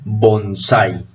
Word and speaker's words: bonsái: tilde tendríamos que pronunciar bonsai y la pronunciación es bonsai el bonsái ahora con tilde o sin tilde